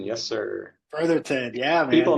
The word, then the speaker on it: Brotherton: have Shane Brotherton did I say that right Brotherton yes sir Brotherton yeah man people mispronounce that a lot thanks for being on